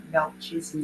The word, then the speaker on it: Melchizedek: Yes, I thought it was Melchizedek.